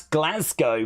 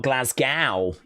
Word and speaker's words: Glasgow: they're going to pronounce glasg Go properly it's glaz uh go not Glasgow oh yeah they do